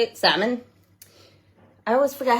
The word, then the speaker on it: Samhain: Salmon? I always forget how to say it. It's Samhain, is like Halloween, and then Ostara is like Easter.